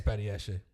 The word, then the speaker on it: Badiashile: Badiashile. Yeah, I think so. That's it. Something like that. Yeah. I think it's Badiashile. Yeah. Yeah, it's Badiashile.